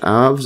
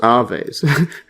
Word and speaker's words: Aves: definitely needs a search aves or AES AES so it's AES I got that way off so AES which are